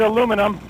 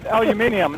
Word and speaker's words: aluminium: I gotta say that when I first, I always said aluminum, and then you taught me the new 650 word aluminium. Now I know other countries use it, and it's probably proper that way.